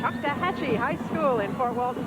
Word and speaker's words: Choctawhatchee: Choctawhatchee. Choctawhatchee High School in Fort Walton Beach, Florida.